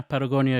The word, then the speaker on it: Patagonia: it can you can you take your uh Patagonia to uh am I seeing it right uh yeah Patagonia is is yeah you said it right and